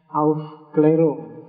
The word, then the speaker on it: Aufklärung: Biasanya tulisannya Aufklärung itu A yang tengah itu ada titiknya 2 di atas. Bahasa Jerman bacanya Aufklärung. Jadi bukan Aufklärung, tapi kamu baca Aufklärung juga tidak apa-apa.